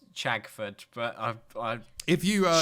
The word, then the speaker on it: Chagford: what no way is there a place called shagfoot okay it's pronounced chagfoot but i if you uh start renting in